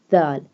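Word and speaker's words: د: And dal. This one dal pronounced softly. This one dal pronounced by tip of the tongue touching the inner edges of the top two front teeth.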